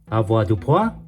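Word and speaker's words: avoirdupois: It pronounced as a dupo and every one AVDP ounce translate to 911 tro.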